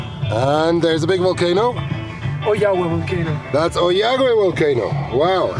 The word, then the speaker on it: Ollagüe: So, we are in Oyagwe. Oyagwe. Osvaldo has the better pronunciation.